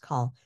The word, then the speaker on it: chol: call also shows up so it's c h l call pronounced call if you're listening call also shows up